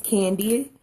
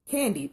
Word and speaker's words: KanD: me my name is candy its belt ka n capital D and the D is stressed so the pronunciation is candy just like the candy and so I know